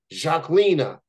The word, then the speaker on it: Zhaklina: had to make sure that I get the pronunciation part right so here it goes my guest at this time is Jacina she is with me right now how's it